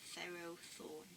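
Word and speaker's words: Ferrothorn: since pharaoh yes um there are arguments as to how to say it um but i'm gonna pronounce it thero thorn um yeah it's kind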